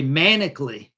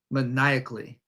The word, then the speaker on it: maniacally: see that I'm thinking okay manically no maniacally see I'm thinking Maniac when I see this word but it comes from Maniac but it's pronounced differently maniacally she started to laugh